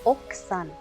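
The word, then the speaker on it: 奥さん: Y la esposa sería oksan. Oksan, que sería escrito okusan, pero oksan, que la U antes de la S se omite.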